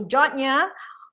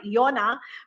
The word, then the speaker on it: Yona: you read it it's it looks like yona but here on guam we pronounce it that jonya so here in jonya